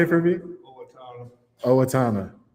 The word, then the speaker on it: Owatonna: Owatonna. Owatonna. Owatonna.